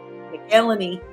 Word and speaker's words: McElhenney: Everyone says his last name wrong. McElhenney.